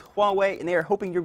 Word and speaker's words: Huawei: look at that how would you think you pronounced that if you don't have any idea like I didn't it is Huawei and they are hoping